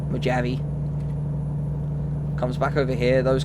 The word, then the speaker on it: Mojave: So, we're not going into Mojave or Mojave as I should say, as it's That's how it's spelled, that's how it's pronounced. Mojave. Mojavi.